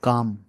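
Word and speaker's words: calm: यहां बोलेंगे इसको या काम सी ए एल एम इसको काम पढ़ते एल साइलेंट होता है यहां पर इसको काम पढ़ेंगे तो वैसे पीसफुल की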